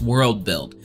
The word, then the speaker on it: WorldBLD: at World BLD Studios which I'm pretty sure is pronounced World build it's a Content creation